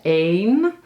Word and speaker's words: een: Bedoel je het onbepaalde lidwoord? Bepaalde lidwoorden zijn de en het. Onbepaald is een.